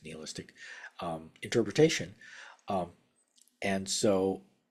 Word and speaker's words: nihilistic: uh a nistic or some people pronounce it nihilistic but I think it's Neal istic um interpretation um and